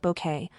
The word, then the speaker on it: Bucket: The character, a snobbish, status obsessed woman who insisted her surname be pronounced bouquet, was a creation that resonated deeply with audiences.